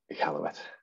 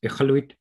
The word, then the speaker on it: Iqaluit: but the Q is quite a guttural sound, a sound. So ichaluk means fish. Ichaluit means there's lots of fish. Thanks, Jason. So from Iqaluit, I hope I said